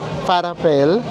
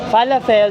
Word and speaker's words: falafel: Lalo akong nahirapang i-pronounce kasi 50 siya in Ph925. Kaloko. Ito naman yung kay Enzo. Farapfel. Falafel.